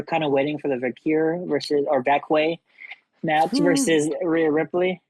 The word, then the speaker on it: Vaquer: I'm like, still, how are you gonna mess up a name like Vaquer? Like, and it's not even like off a syllable, like Valkyria or something like that. I've heard Valkyria, yeah. Valkyria or something like Valkyria or something like that. It's Vaquay. Like you went, nah, this way.